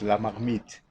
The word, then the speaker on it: La Marmite: Okay, I can first correct, we pronounce La Marmite. La Marmite. La Marmite is in French, that means pot.